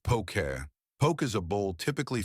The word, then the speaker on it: poke: Pronounced pokeet, poke is a bowl typically filled with diced ai tuna or salmon, avocado, seaweed, sesame seeds, and served over rice.